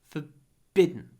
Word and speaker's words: forbidden: forbidden not forbid forbidden at the beginning almost no vowel forbidden for hold it bidden forbidden forbidden no big vowels forbidden it's forbidden practice